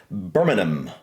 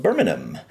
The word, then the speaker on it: Birmingham: We definitely say, Birmingham. we would call this Birmingham. As a matter of fact, we have Birmingham, Alabama, and that's how we would pronounce that. But I know you guys in the UK would say something along the lines of Birmingham. Yeah. The H seems to be a little bit silent.